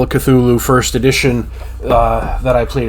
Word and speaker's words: Cthulhu: It says we say it Cthulhu. Lovecraft said it Cthulhu or something.